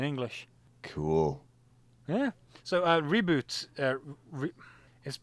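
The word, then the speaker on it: Ribut: malaysia the melee word reboot means storm in english cool yeah so uh reboot uh is they pronounce it reboot in um all the english things i've heard where they've dubbed it so that's why i'm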